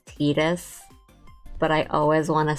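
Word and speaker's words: Tidus: Well, I think the correct pronunciation is Titus, right? Because it's Tita. Not just like in the Japanese, but like the name comes from the word Tita.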